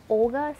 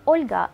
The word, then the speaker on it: Olga: in English I think Olga sounds so harsh if you were to pronounce my name in Russian you'd actually say Olga with a very soft l but no one would